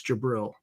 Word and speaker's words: Jabril: just pronounce it or if you just pronounce the jyb r i l it's jabril so I had no